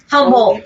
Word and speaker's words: Humboldt: Valley and Humboldt California how do you say that Humboldt yeah humble and that's not too